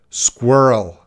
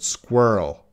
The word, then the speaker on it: squirrel: Squirrel. Before you pronounce squirrel, everyone should be trying to pronounce squirrel. Squirrel. The cute little animal, squirrel. Try this word. Whirl. Start with this word. Whirl. Whirl. Whirl. Squirrel.